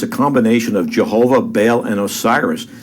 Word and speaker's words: Baal: spells it B A how the Bible spells Bale or B as it's pronounced in Hebrew uh which is the